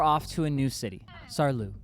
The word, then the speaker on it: Saarlouis: But without sleeping, we were off to a new city, Saarlouis, I think is how it's said, home of Liqui Moly.